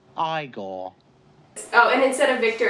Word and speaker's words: Igor: So instead of Igor, we have Igor. You must be Igor. No, it's pronounced Igor.